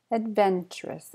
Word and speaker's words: adventurous: doctor hi doctor adventurous where's the stress it's on the Ben adventurous adventurous chic chic Iran